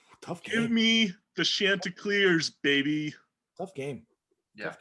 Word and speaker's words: Chanticleers: Chanticleers. Thank you. Chanticleers. I always say chandeliers.